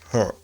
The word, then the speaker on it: her: There are many different pronunciations, but you better use her, right? Her. Don't pronounce that r. There's no strong r sound in this word.